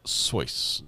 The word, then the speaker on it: Seuss: I found out today for the first time Dr. Seuss is actually pronounced Seuss to rhyme with voice.